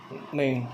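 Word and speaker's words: neeg: Ing, comme dans Pinning, c'est double E, ça s'écrit double E. Ing, pour faire le son 1. Ok? Pinning. Ning, qui est N-E-E-G, ok?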